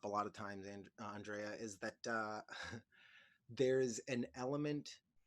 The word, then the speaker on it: Andrea: base with you and see how you wanted your name to be pronounced who aundrea there you go so everybody this is